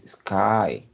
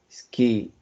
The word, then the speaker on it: sky: It's not Nike, it's Nick, and this word is sky, right? Cielo, sky. Ski in English, ski se escribe así, ski, pero con Y es sky.